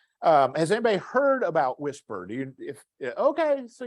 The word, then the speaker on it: WSPR: about weak signal propagation reporter or something called whisper is how it's pronounced um it is a digital mode and